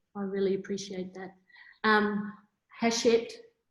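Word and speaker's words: Hachette: really appreciate that um hashit well i just learned how to say it properly i'm saying you know real bogue and i was calling them hatchet i think i did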